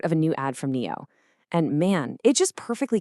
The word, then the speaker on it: NIO: Today we're going to talk about something really clever from the electric vehicle maker Neo. And that's pronounced NEO, by the way.